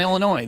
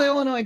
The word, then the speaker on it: Illinois: is silent like on Illinois the S is silent okay it's not fine line Wine and Liquors is it not Jewels either or Aldi or Soldiers Field what is it with Illinois people in the S